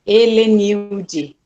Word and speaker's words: Helenilde: pessoas pronunciam de um jeito mais para Helenice, mas é Helenilde.